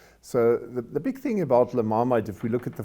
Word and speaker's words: La Marmite: Okay, I can first correct, we pronounce La Marmite. La Marmite. La Marmite is in French, that means pot.